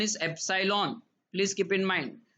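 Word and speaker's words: epsilon: यहां पर सिंबल लिखना क्या है, एप्सिलॉन not, right, pronunciation is एप्सिलॉन, please keep in mind.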